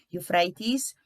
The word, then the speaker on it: Euphrates: in polishes alfred and which in english is pronounced as euphrates sounds like for art theater farad searched for